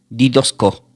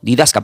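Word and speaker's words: didásko: Entonces esta palabra enseñando del griego se pronuncia como didosco. Didos didasca, perdón, que lo voy a deletear. D I d A con acento s k o.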